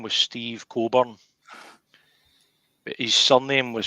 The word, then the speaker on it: Cockburn: But he actually got fed up with folk saying Steve Cockburn, that he changed his name on the gal in AD to Coburn.